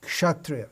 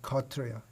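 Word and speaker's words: kshatriya: you'll find in bhagavad-gita the word several times come up shatria srila prabhupada pronounces bengali pronunciation kotriya so if we're learning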